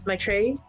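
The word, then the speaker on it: Maitreyi: uh please help me if i get your name wrong uh my tray yeah perfect okay great my tray um what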